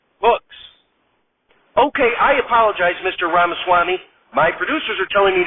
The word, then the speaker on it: Ramaswamy: to move on to Mr ramaswamy Herman rhymes with pastrami hooks thank you Mr Trump Mr ramaswamy your thoughts on the